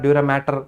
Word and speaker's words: dura mater: Observe the spelling, it's not matter, it's mater. Mater means mother, maternal, paternal. That was the spelling, not matter, pia mater, dura mater.